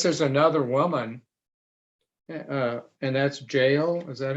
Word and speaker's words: Jael: he was here yeah i would save jail jail would either of those would be appropriate pronunciations um and uh my